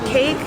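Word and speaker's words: 케이크: For cake, Koreans also say cake, but we use 3 syllables, cake.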